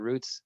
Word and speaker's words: routes: Ben hates it when I say it roots, but that's the correct way to say it. Henry Lippold taught me that, my journalism professor back in college. Roots, not routes, but that's fine. In football, they call them routes.